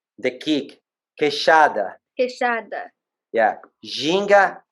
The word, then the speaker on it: queixada: Queixada.